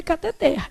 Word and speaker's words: cateter: O certo é cateter. A palavra é o que, gente? Oxítona. A última sílaba é que é tônica.